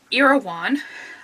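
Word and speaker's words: Erewhon: and then I read irawan which is how he tells you how to pronounce it by Samuel bucket or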